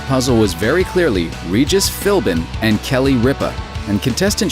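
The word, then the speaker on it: Philbin: The answer to the puzzle was very clearly Regis Filin and Kelly Ripa. And contestant Shane knew it. He did not, however, know how to pronounce Regis's last name. Regis Filbrin and Kelly Ripa.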